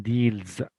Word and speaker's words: deals: at the words and recognize how it is pronounced number one Deals Deals very good Zed just z type blands